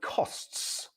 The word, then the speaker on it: costs: So you have the at the end, and you pronounce each of those letters, costs and forests. So quite a lot for the mouth to do in each of those words.